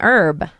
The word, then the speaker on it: herb: a what it's an herb right no it's not it's a herb it's a herb a herb yeah I just say her but we drop that H again French surely that must